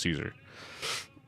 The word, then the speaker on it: Caesar: Yeah, Kaiser is so stupid cuz it's like that's not how you pronounce Caesar.